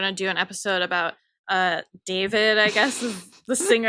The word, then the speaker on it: D4VD: And I'm like, are you sure it's pronounced David? She's like, yes. Because I'm like, I'm going to talk about it in the podcast. But and people love to correct us. So yeah. So apparently it's David.